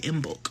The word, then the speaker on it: Imbolc: Oh, that's how you say it, Imbolc.